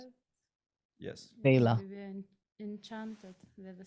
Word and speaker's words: VEiiLA: We changed a little bit the spelling to make it our own, and No, but uh, that's how it's pronounced, But yes, VEiLA.